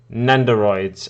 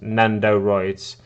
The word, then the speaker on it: Nendoroid: looks look them up they are nenderoids and it's pronounced nendoroids uh they are as